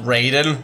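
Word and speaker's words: Raiden: are now designated right it's pronounced raided all right right you've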